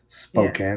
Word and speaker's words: Spokane: How do you pronounce Spokane? Yeah. We say Spokane here.